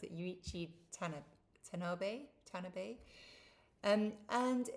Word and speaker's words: Yuichi: with this boy yuichi I that's how you pronounce it yuichi tan tan tanabe um and it's kind of